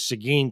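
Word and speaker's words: Seguin: cheat a little bit and ask you the pronunciation before, but it is Sigin, Texas, correct? Yes, sir. Mo most recently, I I retired in 2022 uh as chief in Sigin.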